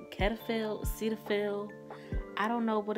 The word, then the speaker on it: Cetaphil: the lotion's name ketophil cetaphil i don't know what it's called i don't know i keep pronouncing it clairfield there's no r in it because it is